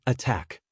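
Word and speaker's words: ATT&CK: Tools of the trade include the MITER AT and CK navigator pronounced just like the word attack, MITER caldera, and atomic red team.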